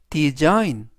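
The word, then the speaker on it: design: 들어 있는 단어들을 보겠습니다은 우리말로 아인 그래서 전체적인 발음은 디자인 디자인 디자인이라고 발음하시면 되겠고요 품사는 동사 뜻은 설계하다라는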